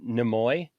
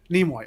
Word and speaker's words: Nimoy: you call him did you just call him namoy leonard is that how he pronounces his name leonard nimoy nemoy nimoy nimoy okay so leonard nimoy i'm sorry i've just